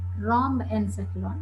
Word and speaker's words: rhombencephalon: No, just please listen my pronunciation. Prosencephalon, mesencephalon, rhombencephalon.